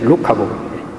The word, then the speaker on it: 루카복음: 쓰여졌다고 하는 마태복음과 누가복음, N이 아니라고요. L이죠, L. 루카복음. 그 원어에는 루카스로 되어 있어요. 근데 우리 한국 사람은 N으로 발음을 해요.